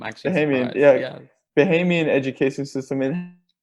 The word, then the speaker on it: Bahamian: a us-based high school education system versus a bahamian mohammed family you said it right the first time i'm actually hey man yeah yeah bahamian education system in how your culture plays out